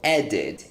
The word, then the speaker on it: added: The same thing, we have a verb that finishes in D, so we're going to pronounce the ED for added as id. So added, id, added, okay?